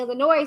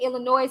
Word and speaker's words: Illinois: case i thought leah would be included in illinois since she and kelly was married there okay